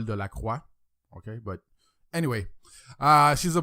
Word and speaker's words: Delacroix: That's a French name, but I try to pronounce it like English-wise, like, you know what I mean? Like, because I'm a French guy, in French it's Nicole Delacroix.